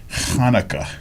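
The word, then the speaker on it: Hanukkah: a high and actually Hanukah doesn't begin with h it begins with ch and it's Hanukah are you Jewish I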